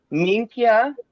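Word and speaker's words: minchia: Minkia. Mikia? So it looks like min, okay, and Kia. So Minkia.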